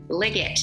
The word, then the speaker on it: Liggett: Koch here with the CIty Home Team, and this week's Zoom interview is actually with Liggett. Is that the way to pronounce it? That's right, hard G.